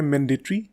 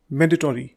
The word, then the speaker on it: mandatory: British pronunciation तो है मैंडेटरी, लेकिन अमेरिकन इसको इस तरह से बोलते हैं मैंडेटरी.